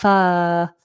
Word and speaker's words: first: The I makes up the the vowel sound uh uh f first. First first. So if you can ignore that R, get that long lazy vowel, then that'll be nice and easy for you first.